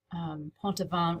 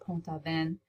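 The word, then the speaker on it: Pont-Aven: hangs inside a church in Ponte bond which is the I think it's pronounced poem thaw pen it is an artist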